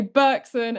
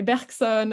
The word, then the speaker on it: Bergson: in a French way, sometimes I pronounce them in a British way. So you'll hear me say Bergson, and then you'll hear me say Bergson, and just don't worry about it.